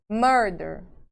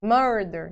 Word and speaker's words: murder: É minha sílaba mais forte? Murder. Murder. Não, minha sílaba mais forte tá aqui. Tá?